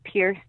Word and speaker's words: PI3RCE: It's Pierce, and Pierce is spelled PI3RCE, music on Instagram and Twitter and Facebook.